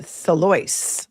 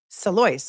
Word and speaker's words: Salois: Uh Salois, like the name Royce. Thank you, Holly Holden, who says, "I had a friend with that last name and she pronounced it Salois."